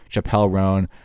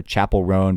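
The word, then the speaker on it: Chappell Roan: talk to her and they would have called her Chapel rone because they make sure to really get that right and if they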